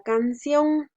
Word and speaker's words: canción: Tenemos la palabra canción. La palabra canción tiene 2 sílabas. Can-ción. La mayor fuerza de voz la hacemos en la sílaba ción, por eso la coloqué en rojo.